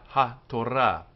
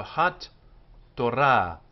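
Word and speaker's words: התורה: It's closed with a t, so it's hat. But it's not hat-ora. The t is then repeated again in the second syllable. So hat-torah, hat-torah. And this t with the dagesh inside it goes both to the first syllable and the second. So it's like it's written with two T's, hat-torah.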